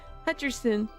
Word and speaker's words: Hutcherson: I said his name wrong. Hutcherson.